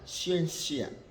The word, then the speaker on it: scientia: Tulisannya scientia dibaca scientia, scientia.